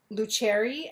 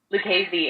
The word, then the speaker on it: Lucchesi: Luccheri and Andretti, is that right? Lucchesi and Andretti. Lucchesi and Andretti, okay.